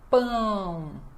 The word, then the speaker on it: pão: Então, a pronúncia é pão. Pão. Lembrando que o ar precisa sair pelo nariz.